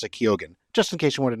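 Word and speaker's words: Keoghan: eye on Barry kogan um and it's apparently pronounced kogen apparently in in uh Ireland it's normally pronounced Ken but he's from Dublin and they pronounce it kogen just in case you want to know um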